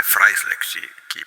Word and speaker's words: Freisler: Mas é Fryler que se que pronuncia, tá?